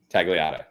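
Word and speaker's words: Tagliata: of mine uh and I'm gonna pronounce it wrong you're gonna have to tell me have you ever been to tag Alita t a g l i a TA tagata yeah in har it's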